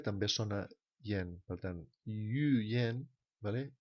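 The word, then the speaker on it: yǔyán: Per tant, yu yen, vale? Una cosa que s'escriu amb yu yan, es pronuncia yu yen perquè el so, la Y es considera que és una, un so I.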